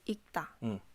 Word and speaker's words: 읽다: 리을 기억은 리을이 발음되지 않습니다. 책을 읽다.